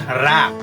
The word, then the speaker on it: wrap: Some students were telling it as wrap or wrap, but the right sound is wrap. Wrap it up. When you're saying, your mouth goes wide open.